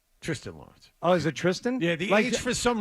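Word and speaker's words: Thriston: Lawrence oh is it Tristan yeah the AG for some reason is silent like Charlie St on as Wayne M used to it looks like thristan but it's it's something else you remember crazy Wayne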